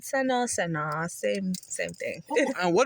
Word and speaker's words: Seno: hi how you guys doing and I am pronouncing it right right Seno yes it's right Seno same same thing and what does your name